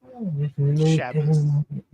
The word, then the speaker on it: Shabbos: Shabbos. That is It's how you pronounce it correctly.